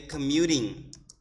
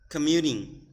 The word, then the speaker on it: commuting: the t's right so for American English we usually change T into a D sound so that's why you will hear me say commuting commuting Samantha lives in Nashville